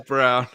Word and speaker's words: Braun: It's spelled Braun, but it's pronounced Brown. Yeah, it's Brown.